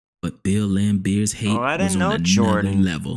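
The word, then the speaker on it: Laimbeer: has lame in it I know it's pronounced lamb beer but start calling this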